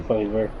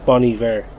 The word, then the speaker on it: Bon Iver: and stuff will be, Bon Iver. yeah. I always mix that up. Bon Iver. It's Bon Iver, but it's spelled B-O-N, is it? Yeah, I think it's French Oh, okay. for good winter.